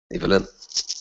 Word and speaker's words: Ivelin: Tell me, is it Evelyn or Ivelin? Evelyn.